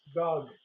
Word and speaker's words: Gog: of mog and again that's spelled g o not it's not God it's Gog uh Gog of mog and